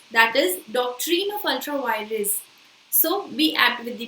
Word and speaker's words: ultra vires: So yes, the doctrine of ultra virus, and just a second, the pronunciation is not doctrine of ultra virus, that is doctrine of ultra virus.